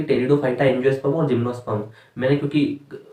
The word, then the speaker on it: टेरिडोफाइटा: तो आप जो है टॉपिक डाल सकते हैं, टेरिडोफाइटा। पी से इसको स्टार्ट करते हैं। पी यहाँ पे जो है साइलेंट होता है, मैं यहाँ पे हिंदी में भी लिख देता हूँ, टेरिडोफाइटा।